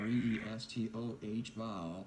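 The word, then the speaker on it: Cristóbal: CDT tropical storm Cristobal pronounced here re es toh ba was centered over the Bay of Campeche about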